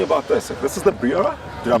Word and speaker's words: Brera: This is the Brera? Did I pronounce it right? Yes, it's an Alfa Romeo Brera.